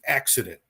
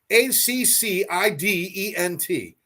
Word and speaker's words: accident: is the word is accident there are two C's side by side pronounced different ways in one word a c c i d e n t accident the first C